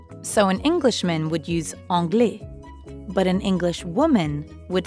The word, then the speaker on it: anglais: both are masculine and although they both end with an s you don't pronounce it so an englishman would use anglais but an english woman